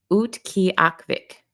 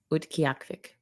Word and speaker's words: Utqiagvik: Oh, this is the pronunciation. Utqiagvik. Utqiagvik.